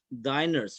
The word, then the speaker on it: diners: this one we call we pronounce it as diners right diner dine means what does dine mean dine means to have dinner right yes so diners